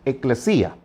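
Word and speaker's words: ἐκκλησία: Les recuerdo que la palabra iglesia viene de una palabra que en griego se pronuncia eclesía.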